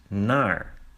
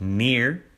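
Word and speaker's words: naar: So in the second word is to which in Dutch is nar nar not nar not near but nar and this is as in location so nar the cut to the cat.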